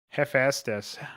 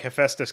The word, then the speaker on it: Hephaestus: almost accidentally pronounce uh or type pronunciation as pronounciation hephaestus hephaestus so i guess hephaestus is not as